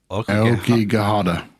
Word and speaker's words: Aokigahara: Aokigahara. Aokigahara. And I'm not good at pronouncing Japanese words, but I mean, my mind